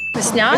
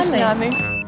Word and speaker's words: весняний: би ви не казали, весняний чи весняний, обидва варіанти правильні. Словник запевняє, що у цьому слові наголос подвійний. Весняний. Весняний. Весняний. Весняний. Да. Зафіксували. У слові весняний подвійний наголос. Можна казати і весняний, і весняний.